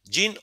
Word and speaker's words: Jean: ¿Cómo se pronuncia tu nombre? ¿Jean o Jan? ¿O Jen? Profe, pues. Jan.